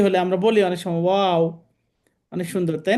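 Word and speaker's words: واو: আচ্ছা তাহলে এই হরফটা আমরা উচ্চারণ এভাবে করব। ও জবর ওয়া ওজের উই ওর উই ও একটু বাতাস বের হবে। ঠিক আছে। বা মত একটু সাউন্ড আসবে। কিন্তু বাতাসটা বের করে দিতে হবে।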